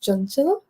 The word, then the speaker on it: Chanchal: for considering it Adrian my name is pronounced John and um I go by